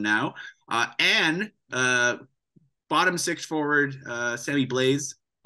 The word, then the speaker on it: Blais: Bottom six forward, Sammy Blaise, it's a French name and I'm always bad at that. It's probably just pronounced Blay and we all say it wrong.